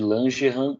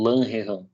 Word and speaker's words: Langerhans: De Langerhans ou Langerhans, tá? Dependendo da pronúncia aí, você pode encontrar das duas formas em livros de anatomia.